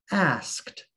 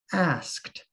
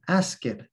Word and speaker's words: asked: to understand the past tense of ask is asked asked with a sound at the end but sometimes learners will mispronounce asked and they will say ask it ask it ask it to a native english